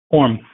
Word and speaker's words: Orme: Orme. Salami. Orme.